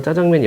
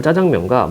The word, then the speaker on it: 짜장면: 덧붙였다 이게 뭐냐면 한자어는 한자어는 된소리로 발음을 안 해요 그래서 짜장면은 한 자가